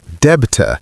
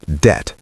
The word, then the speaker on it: debt: Mistake number 3 is pronouncing the B in debt, saying debta instead of debt. The B is completely silent.